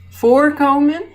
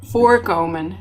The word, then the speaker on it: voorkomen: Los separables hacen énfasis en la partícula, los inseparables hacen énfasis en el verbo. Aankomen, aanbieden. Doorgaan, doorstaan. Misgaan, mislukken. Omleiden, omgeven. Onderbrengen, ondernemen. Oversteken, overleggen. Voorkomen, voorkomen.